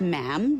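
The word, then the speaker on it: ma'am: after that is just mam rhymes with jam and it's always a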